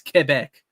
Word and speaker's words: Quebec: It is the correct pronunciation to call Quebec. That is actually the proper pronunciation. That's not even bullshit. It is actually the proper pronunciation. Everyone calling it Quebec is wrong. It's Quebec. That's actually how you pronounce it.